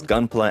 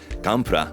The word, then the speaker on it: Gunpla: just gumpla for example it's pretty commonly known as gunla everybody calls it gunla and that's a pretty wellestablished pronunciation here in the english- speaking Community for the word gunla that said if you were to look at the actual pronunciation of that in Katakana it's gamra so if I started